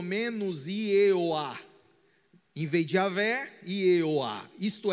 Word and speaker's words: Yahvé: A pronúncia exata já se perdeu, mais ou menos a pronúncia do Senhor é Yahvé, porque a dificuldade de se pronunciar, porque não temos vogais, apenas consoantes.